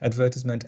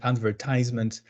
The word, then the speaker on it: advertisement: Famous example, advertisement. Hang on, this is British English, right? Advertisement and advertisement. That's American English.